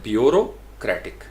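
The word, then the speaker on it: bureaucratic: अब मैंने इसको उर्दू में भी साथ लिख दिया कि बेओरो, यानी इसको आपने पढ़ना है ब्यूरोक्रेटिक, ब्यूरोक्रेटिक, ब्यूरोक्रेटिक। तो प्राइमरी स्ट्रेस यहाँ पे 2 स्ट्रेस है BU के ऊपर, ब्यूरोक्रेटिक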